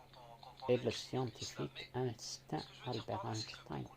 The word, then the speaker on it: Einstein: Et le scientifique instinct Albert Einstein, c'est-à-dire qu'il s'écrit instinct, mais se prononce Einstein.